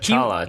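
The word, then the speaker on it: Chela: His name is like Chala or something, but the way the Doctor and Nyssa pronounce it, they pronounce it like Jailer.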